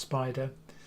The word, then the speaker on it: SPDR: It stands for SPDR, it's pronounced Spider, but now it represents much wider family of funds other than SPY, which was the original S&P 500 tracker.